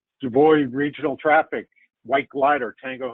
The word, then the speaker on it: DuBois: know we'll use a dubois regional and and dan and i will debate that's you know if you're from pennsylvania it's pronounced one way if you're not from pennsylvania it's pronounced another just like i i